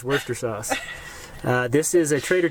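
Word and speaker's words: Worcestershire: Shou and Worster sauce I just call it Worster and then Worster sh it's not Worster shy it's just Worster sauce uh this is a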